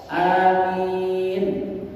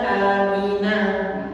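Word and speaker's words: آمين: Jadi membacanya amin itu bacanya di wakaf amin. Jadi enggak dibacanya amina.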